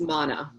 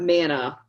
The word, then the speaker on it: mana: So actually the pronunciation is mana. It's not manna, but it's mana.